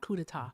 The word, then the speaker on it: coup d'état: I knew I mispronounced it. Thank you so much. Coup d'etat.